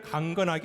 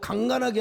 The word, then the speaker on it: 강건하게: 그의 형통함과 그의 아름다움이 어찌 그리큰 곡식은 청년을 새포도 주는 처녀를 강건하게 하리라. 그렇죠. 발음을 잘했습니다. 오늘 일부 때는 발음을 잘못해 갖고 강간하게 하리라 했는데 발음 잘해야 돼요.